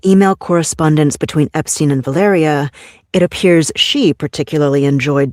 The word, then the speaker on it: Valeria: Um, I think I pronounced her name wrong. Valeria, I always want to say Valerie.